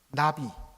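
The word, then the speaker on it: נביא: 발음이 참 재미가 있습니다. 나비입니다. 나비.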